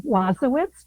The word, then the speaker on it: Wasowicz: Well, first of all, thank you for the opportunity and I pronounce my name Wazowitz, but please call me